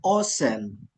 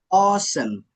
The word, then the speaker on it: awesome: I feel awesome. Awesome. Awe itu dibacanya O. Awesome. Ya, bukan awe som, tapi awesome.